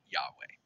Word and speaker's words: Yahweh: To say it correctly, you don't use your tongue and you can't close your lips.